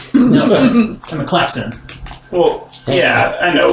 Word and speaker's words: Klac-Xen: No, I'm a Klac-Xen. Well, yeah, I know, It's but pronounced Klac-Xen.